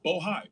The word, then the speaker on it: Bohai: Sena bohai I want to make sure I pronounce it right bohai b o h AI and the list goes